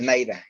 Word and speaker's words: NIDA: Y hay mucha documentación en la página de NAIDA. Se escribe NIDA, ¿sí?